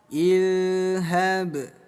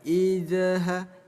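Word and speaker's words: اذهب: Ilhab ada zal sukun, jangan sampai tertukar dengan huruf dal ya. Jangan sampai dibaca idha, hindari pengucapan z. Kalau dibaca idha boleh nggak Gus? Bukan nggak boleh, tapi kurang tepat.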